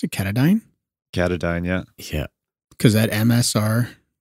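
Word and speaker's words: Katadyn: Is that how you pronounce it? Catadyne? Catadyne, yeah.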